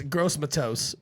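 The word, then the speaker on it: Gross-Matos: you say that yes I'd pronounce it uh it's gross Matos it's gross but toast bro all right so you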